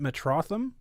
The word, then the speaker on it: Metrotham: Is it Metrotham? That's perfectly correct.